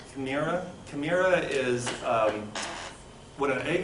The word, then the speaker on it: chimera: Also, when God gives out the soul to people, this first word, it's pronounced chimera.